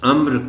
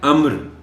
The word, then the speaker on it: امر: علاوہ ازیں انہیں لفظ امر کا درست تلفظ بھی بتائیں۔ یہ لفظ ہے امر، امر نہیں ہے۔ امر کے اور معنی